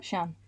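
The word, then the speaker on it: Siân: Is it Shawn? Shan. Shan Clifford.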